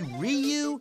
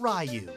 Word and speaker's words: Ryu: be that guy but you said my name wrong it's actually ryu not ryu oh well that's easy to remember because it rhymes with pu you know what i'm